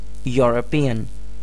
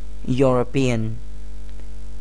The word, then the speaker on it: European: pronounce orange and then European say orange orange and then say European European orange which starts with or and European which starts with y y so there is